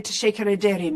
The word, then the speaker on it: teşekkür ederim: Am I wrong to say teşekkür ederim? Is that the right way to say thank you? It is. It's perfect. It's perfect. It's the rightest way.